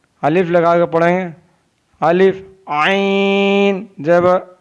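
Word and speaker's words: عین: आइन हल्क के दरमियान से अदा होता है। आइन pronounce from the middle part of the throat.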